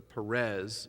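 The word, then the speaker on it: Peres: And then Daniel says, he reads the Perez, which means divided, and it rhymes with Paras, which means Persians.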